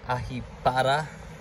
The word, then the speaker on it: Ahipara: This is in Ahipara, as the locals say. We're saying Ahipara.